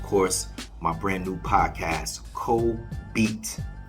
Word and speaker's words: Co-BETE: my brand new podcast Co beat pronounced like I Ain beat or pronounced like let me get some beats it's like that same